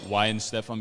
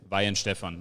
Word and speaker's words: Weihenstephan: we we call it wine stefan because it's easier to pronounce for americans like this and um we kind of americanized it because it is vain stefan like the american v and um if you